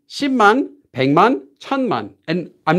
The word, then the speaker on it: 백만: 백, written as 백만, pronounced as 100만.